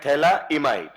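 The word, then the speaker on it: phthalimide: तो इसी का ही नाम है थैलामाइड पीए साइलेंट है ये है थैला इमाइड क्लियर अब इसमें यह वाला जो बेटा हाइड्रोजन है ना इस हाइड्रोजन का नेचर कैसा है?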